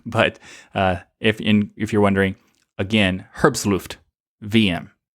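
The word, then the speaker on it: herbstluftwm: This would probably be a very good one to be on there, but if you're wondering, again, herbstluft VM is how you say this one.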